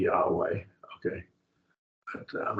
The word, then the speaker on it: Yahweh: Jehovah is probably not the correct pronunciation. It's probably Yahweh.